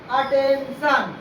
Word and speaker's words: attention: जैसे देखेंगे यहाँ पर दिया हुआ है ATTENTION, आई आया है, आई का उच्चारण आ होता है। अटेंशन आया ना, ई आई ओ ये सब कुछ नहीं आया, अटेंशन।